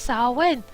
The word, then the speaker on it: Samhain: "Pronounced Samhain.